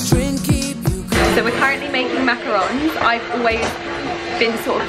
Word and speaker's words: macarons: and I feel like so many people say macaroons that I always think that that's right it's not right it's macarons and I now know that